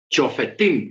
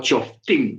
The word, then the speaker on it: Shoftim: Estamos en la parachá Chofetim o Choftim, se puede pronunciar de las dos maneras.